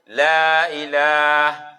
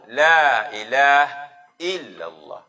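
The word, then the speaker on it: لا إله إلا الله: Andai terwakaf je lagi urung natib, lagi urung la ilah. Andai mesti la ilah illallah. Mantang dalam kategori secara bacaan ini. La ilah hukum mati bahar. Jid kan. Be la ilaha illallah.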